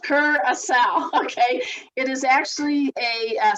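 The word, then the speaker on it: Curaçao: Now, guys, when you see this word, it is not cure a cow. Okay, it's pronounced curacao.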